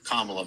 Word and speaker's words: Kamala: And regardless of what you think, when it comes to how Kamala is doing, her name is Kamala, by the way. It's pronounced Kamala. But you said Kamala real quick.